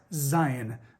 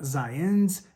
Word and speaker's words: Zion: It's pronounced Zion, not Zion, not Zions.